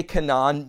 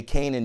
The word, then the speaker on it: Canaan: guys are going in you say kanan many people would say kanan you're probably saying it correctly people who say canaan probably are not familiar with how it's spoken in hebrew but kanan kanan is